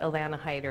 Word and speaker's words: Alanna Hider: Dina stumbled a bit because there's been controversy on how to pronounce my name so however you say it is fine but Alanna hider is how my mom would say it I've been teaching for